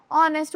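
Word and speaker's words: honest: एच हमारा हमेशा silent होता है। हम इसके कैसे प्रोनाउंस करते हैं? ऑनेस्ट बोलते हैं ना।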